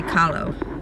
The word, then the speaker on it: Kahlo: Frida Kahlo actually ask Siri how to say Kahlo called Kahlo I think that's the correct pronunciation but I could be wrong and I